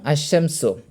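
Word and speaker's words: الشمس: যেমন আশশামসু লক্ষ্য করুন হামব তাজিদ এখানেশিনটা দুইবার উচ্চারণ হয়েছে।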